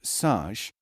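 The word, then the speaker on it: سج: SJ, pronounced Saj, means to plaster or coat as with clay.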